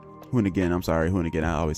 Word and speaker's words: Hoonigan: Hooligan? Not hooligan. Hoonigan.